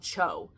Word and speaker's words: choe: That actually is called Cho, or I think it's called cho. I think it's pronounced that. It's CHOE.